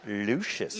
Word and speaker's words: Lucius Q: It's pronounced Lucius.